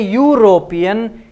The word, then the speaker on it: European: When you say European, it is U.